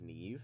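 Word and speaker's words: Niamh: out that the name neve is spelled n-i-a-m-h that's the irish spelling of neve neve yeah with an mh yeah which is kind of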